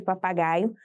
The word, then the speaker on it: papagaio: seremos quatro sílabas papagaio você consegue identificar Qual é a sílaba tônica dessa palavra Qual foi a sílaba que você falou mais forte um É isso mesmo e você falou Guy is e observe papagaio o gás se destaca entre as outras sílabas na letra B